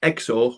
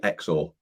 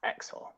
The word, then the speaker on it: XOR: exclusively one it's pronounced exo which stands for exclusive or but generally xor okay cool right xor so definitely not zore like xylem or xylophone no definitely not um